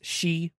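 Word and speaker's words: 四: in the Japanese language it sounds for is pronounced she which is the same as the word for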